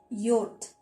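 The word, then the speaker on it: yoğurt: मैंने just for योर आप लोग की नॉलेज के लिए योर्ट, टर्किश में इंग्लिश में जिसको हम योगर्ट बोलते हैं, इंग्लिश में योगर्ट, टर्किश में योर्ट। हम ग जो यमुशक्के है इसको प्रोनाउंस नहीं किया, इसको क्या बोलेंगे उमर?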